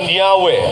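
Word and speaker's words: Yahweh: While inclining to view the pronunciation Yahwe as the more correct way. We we have retained the form Jehovah because of people's familiarity with it since the 14th century.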